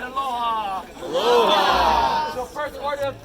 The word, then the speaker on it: aloha: Some people yell aloha, but the only real way to say aloha is a brief and warm aloha.